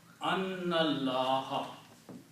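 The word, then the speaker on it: أَنَّ اللَّهَ: When you read these together, you do not pronounce this alif here. You combine this noon with the lam and recite Annallaha.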